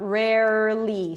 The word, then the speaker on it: rarely: Here we also have an R at the end, re, so round your lips for the R, rare, push the tongue forward for the li, rarely, nearly, barely.